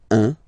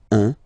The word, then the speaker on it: un: Alright, so when you combine this U and N, you get the nasal sound 1, 1.